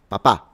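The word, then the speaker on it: papà: So, it's papa, but dad is papa. So the stress is at the end and we tend to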